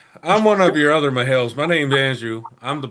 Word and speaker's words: Mahale: You're Mahale. You're no glove, no love Mahale. Heard it straight from the Mahale. The A is silent. It's just Mahale.